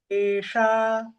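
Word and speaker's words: तेषाम्: Tesha. Tesa. Not sa, it's sha. Tesha.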